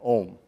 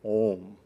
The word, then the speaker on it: Om: spelled also a-u-m because it's the sound of three letters ah for creation ooh for sustenance or sustaining and um for Destruction ah ooh m right